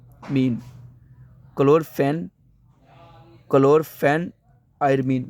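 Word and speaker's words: chlorpheniramine: वन क्लोर फिना मन मैटेट क्लोर phenol मन chloro फेन आयर मन मीन क्लोर फेन क्लोर फेन आयर मन मैं इसको रिपीट इसलिए बोल रहा हूं ताकि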